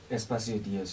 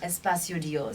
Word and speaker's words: Espacio Dios: Espacio Dios, you said it right. Espacio Dios.